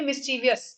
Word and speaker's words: mischievous: Okay, mischievous. So the I sound is, I mean, it's pretty silent in a way. It's there, but it's quite not there, right?